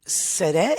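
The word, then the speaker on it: tsere: called uh cere and the sere is as a as in they they um some people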